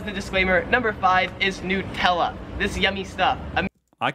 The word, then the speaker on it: Nutella: nutella like it's new nutella here in australia they pronounce it nutella like a yes not yeah nutella not nutella number six popular card